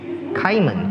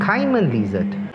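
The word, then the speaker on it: caiman lizard: showing me their butt either you would pronounce it as simon lizard or carmen lizard kaiman kaiman lizard well this is going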